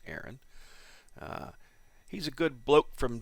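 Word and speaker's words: Eran: I don't know if I've butchered his name or not, but it's E-R-A-N, so I'm pretty sure that's pronounced Aaron.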